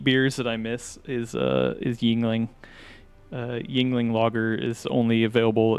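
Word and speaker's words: Yuengling: So is it is it spelled with a Y, or is it actually like Yingling, like German?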